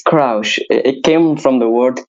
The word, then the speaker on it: Kraush: It's Kraush. It came from the word crush, and I made like play word on it. So it's Kraush. Yeah, it's like crouch, but with an ish sound.